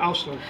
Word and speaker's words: Oursler: Okay, it's day 3 of Pintastic, and I'm here with one of the speakers from the seminars, Oursler, is it pronounced? Yeah, Oursler.